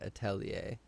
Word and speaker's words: atelier: to pronounce it but so when it's singular we say Atelier but when it's plural we actually say the at'll ears yes we were yeah